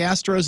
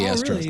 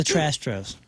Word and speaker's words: Astros: Diaz he's with the Astros I think he was with them with their World Series the trastos TR I'm sorry I mispronounce that you're right we have